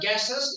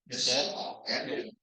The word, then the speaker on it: guests: So how I pronounce it is you go guest. Right? Say with me slowly. Guest. Guests.